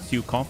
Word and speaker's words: Zhukov: Oh, the Zhukov. You just said it correctly. It's pronounced Zhukov with an emphasis on the U. Zhukov.